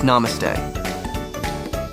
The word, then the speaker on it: namaste: and traditions to keep in mind greeting with namaste in India Namaste pronounced NuMe is more than just a greeting